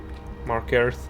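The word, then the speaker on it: Markarth: it's too far away market mark earth yeah that's how it's supposed to be pronounced we're too far away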